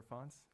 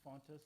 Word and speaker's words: Fontes: you mr fontes or fonts how do you pronounce it okay since you brought it up uh my mother pronounced it faunus so we have always pronounced it fontas with a t i once was told